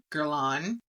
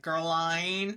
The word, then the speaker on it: Guerlain: Gerlain. I want to pronounce it like an American and be like Gerine, but it's Gerlain.